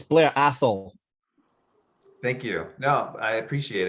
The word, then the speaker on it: Blair Athol: talisker fan as well so love it it's blair athol thank you no i appreciate it i'm always trying to get the pronunciations right the brand home of bells and